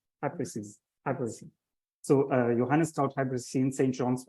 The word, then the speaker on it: hypericin: Hypericin. Hypericin.